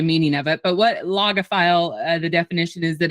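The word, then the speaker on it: logophile: it's a new word for you um it's pronounced aoga file if anybody's um wanting to to know um and a few of you might even be Googling the meaning of it but what loga file the definition is that it's a lover of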